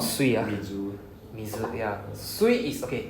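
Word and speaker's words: 水: Okay, but so when you see it here, doesn't mean that next time you see this word, oh, it's pronounced as sui. No, not really. Yeah. Okay, so by alone it's pronounced as mizu.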